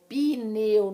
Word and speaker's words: pneu: existe esse no advogado pneu não existe esse hino pneu tá e aí na